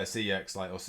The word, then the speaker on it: CeX: say is see uh cex or sex as they pronounce it um this whole year